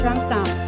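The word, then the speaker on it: 長衫: hrd she's representing China this Chinese dress is pronounced chomsang that means long skirt it is most seen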